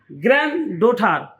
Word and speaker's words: granddaughter: Granddaughter, D is silent.